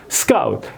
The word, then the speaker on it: scout: 그래서 이것도 SC의 이 중자음, 예? scout 이게 쓱 이렇게 해야 되는데 이제 이 모라식 발음을 하는 거예요. 여기에 이제 이게 키읔이 여기로 가버린 거예요. 일본어 모라식 발음. 그러니까 했으문이다 뭐 이런 것처럼 매구도 나루도 예? 이런 것처럼. 예? 그래서 여기에 키읔이 여기 있어야 될 것이 out 이렇게 돼야 되는데 scout 이렇게 돼야 되는데 scout 이렇게 발음을 한 거예요. 그게 액센트가 틀린 거죠.